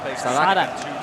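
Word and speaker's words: Saadhak: How do you pronounce this guy's name? Sadak. Sadak.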